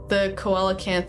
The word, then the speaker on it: coelacanth: But yeah, the coelacanth, however it's pronounced, is my favorite fish because it's big.